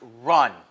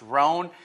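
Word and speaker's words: Rhone: Now, Bernie, and I've said this before, I believe it's pronounced Run, even though it looks as though it would be pronounced Roan. It's Bernie Run, is a sharp operator down at Tampa in his own right.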